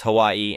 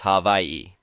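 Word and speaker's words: Hawaiʻi: The traditional spelling is Hawaii and pronunciation is havi. Basically, the a and the h merge. The w and the a and the i merge. The w makes a v sound since it's surrounded by vowels.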